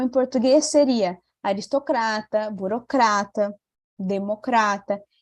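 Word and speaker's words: demócrata: seria aristocrata burocrata Democrata em espanhol a sílaba tônica vai mudar né não vai ser mais lucrar ser em português e vai ser aqui na sílabas que eu coloquei em então em espanhol eu vou dizer aristocratar lembra que o outro fechadinho não era estoqueta aristocrata burocratar democrata viu como que muda né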